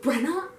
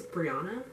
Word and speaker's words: Brianna: starts screaming, "Are you Brenna? Are you Brenna?" My full name is Brianna. And clearly he was pronouncing it wrong.